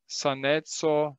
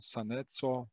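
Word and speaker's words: saneco: Sanetso, sana ist gesund. Sanetso ist Gesundheit. Dieses C wird immer als C ausgesprochen.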